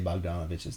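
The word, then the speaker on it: Bogdanović: bogdan bogdanovich steph curry i know i always say bogdanovich's name wrong it's bojon but i like saying bogdan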